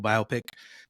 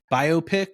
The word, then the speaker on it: biopic: Do you say biopic or biopic? How do you say it? It's technically biopic. I say biopic. I know. But is it biopic? I think it's technically biopic because it's a biographical picture.